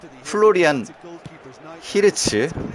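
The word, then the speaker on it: Florian Wirtz: 플로리안 히르츠. 로또. 아예 아닙니다. 의도를 한 거예요. 아우 씨 너무 세게 때렸다 이번. 히르츠. 근데 약간 휘 발음도 나지 않아요? 저 선수 발음이?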